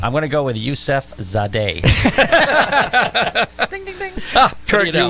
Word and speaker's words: Yusefzadeh: I think the Z is silent, so I'm going to go Yusefzadeh. Yusefzadeh. It isn't silent. Yusefzadeh. Yusefzadeh. I'm going to go with Yusefzadeh.